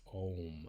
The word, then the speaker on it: Om: And I have mentioned this before, but Om is typically, especially if we're just doing it as a single mantra, is often pronounced Om, A-U-M.